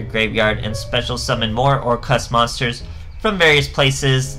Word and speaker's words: Orcust: to do links and that's or cust so I'm assuming it's a wordplay on Orchestra that's actually spelt with an H e but it's more cust so